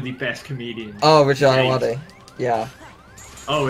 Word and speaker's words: Ayoade: Oh, is that how you pronounce it? Yeah, Ayoade. I always thought it was Ayoade. Nah, it's Ayoade. I don't know why. Yeah, no, to be fair, it's easy to mispronounce.